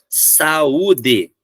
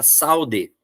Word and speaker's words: saúde: A palavra saúde e saída, se não tiver acento, fica saude, saída. Ele vai grudar. Eu só vou ler separado o U e o I se ele tiver acento, senão ele gruda.